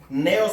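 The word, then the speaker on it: νέος: otra que es así neos como la como la pastilla Neo los que la conocen neos con acento en la e pero estea es diferente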